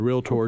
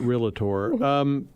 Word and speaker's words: Realtor: We have a trademarked moniker called realtor, 2 syllables, ladies and gentlemen, not realtor.